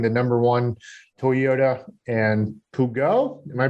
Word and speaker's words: Peugeot: dealership to being the number one Toyota and Peugeot. Am I pronouncing that right? Dealership? No, Peugeot.